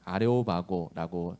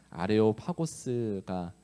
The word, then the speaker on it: 아레오파고스: 어 아레 아레오스 아레오파고스 아레오바고라고 하는 법정으로 데려갑니다.이 발음이 어렵네요. 원래 그 원어로 읽으면 아레오파고스가 어 적절하고요. 어 우리말로 좀 쉽게 표현하고자 아레오 바고오로이 적힌 것으로 보이는데요.